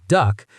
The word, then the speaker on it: DUKW: The DUWK, pronounced duck, was an amphibious truck built on a GMC 2 1/2 ton truck.